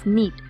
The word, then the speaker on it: knit: y la N, realmente la K no suena cuando lo pronunciamos, es knit.